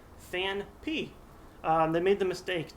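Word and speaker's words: Phanpy: People call him FanFi because there's that soft PH sound in the word elephant. However, the card is pronounced Fan P.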